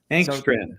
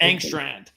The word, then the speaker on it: Engstrand: How to pronounce his name is Tanner Engstrand. Okay, Engstrand. So, Engstrand.